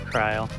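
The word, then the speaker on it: Krile: I know it's pronounced Kryl.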